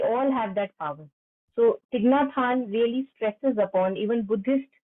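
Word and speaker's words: Thích Nhất Hạnh: It's called Thich Nhat Hanh. Thich. As if you are pronouncing it as T-H-I-G, Thich.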